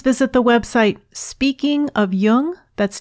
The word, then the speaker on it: Jung: Jung on Apple podcasts just be sure to pronounce Yung with a hard J links to Amazon's new